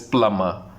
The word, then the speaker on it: plumber: It's the correct pronunciation is plumber. Plumber. B is silent, which is B is basically silent.